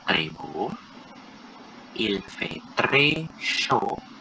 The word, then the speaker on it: chaud: Il fait très chaud. Ini show ya, bukan show. Show.